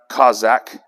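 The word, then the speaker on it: chazaq: concordance number 2388 and it is c-h-a-z-a-q it's pronounced kozak and i'm gonna read to you some of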